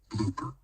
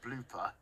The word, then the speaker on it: BLPR: I'll put in BLOOPER, just so people know that's how you pronounce it, even though it's spelt BLPR.